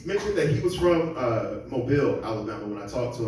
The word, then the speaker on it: Mobile: Just so you know, Mobile is spelled M-O-B-I-L-E. Yes, we all say it wrong. We all say Mobile. The first time I ever heard it pronounced correctly was when I actually moved to Washington. And the girl said, "Oh, are you from Mobile, Alabama?"